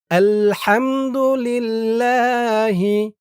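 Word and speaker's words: الحمد لله: আর পেশ থাকলেও ল উচ্চারণ হবে। তো এখানে জের। এজন্য আপনাদের বলতে হবে আলহামদুলিল্লাহি রব্বিল রব্বিল আলামিন এখানে তিন আলিফ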